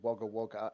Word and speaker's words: Wagga Wagga: We've actually got a town called Wagga Wagga, and no one pronounces the second Wagga in Australia.